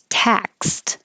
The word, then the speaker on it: taxed: Taxed. The X is really a K and an S combination, and the D sounds like a T, and the vowel is A. So open and keep your lips back.